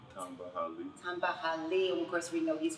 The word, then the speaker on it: Hali: me up to say his name can you pronounce your name Tamba Tamba Hal tah Hali of course we know he's from the Kansas